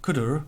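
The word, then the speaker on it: cdr: called cooter so when we pass X into CUDA and yes that is as far as I understand it how you pronounce it what we get back is a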